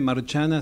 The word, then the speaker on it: Marciana: Sí, Marciana se escribe, Marciana se dice Marciana. En italiano.